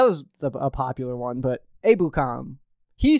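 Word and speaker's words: Ebukam: That was a popular one, but Abukam.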